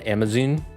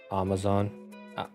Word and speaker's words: Amazon: UK and he says Amazon. Like, he doesn't pronounce the second A. It's Amazon instead of Amazon.